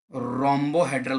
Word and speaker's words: rhombohedral: Fourth number वाला देखो, इसको इंग्लिश के अंदर त्रिसमन्ताक्ष को रोम्बोहेड्रल बोला जाता है, RHOMOBOHEDRAL, रोम्बोहेड्रल। देखो स्पेलिंग में फिर से बोल रहा हूँ, RHOMBOHEDRAL, रोम्बोहेड्रल।